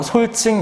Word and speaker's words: 솔직: 그랬던 것처럼 솔직 역시도 리을 받침 뒤에서 이 지읒이 된소리로 나는 분명한 이유가 있는 거야.